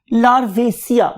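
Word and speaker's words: Larvacea: इसको डिवाइड कर दिया, इस नाम को डिवाइड कर दिया दो पार्ट्स पे, लार्वेसिया, लार्वेसिया बोलेंगे आप इसे, लार्वेसिया। एशिया सब में आना है, ACEA सब में आना है, इसलिए मैंने लार्व को और एशिया को सेपरेट कर दिया।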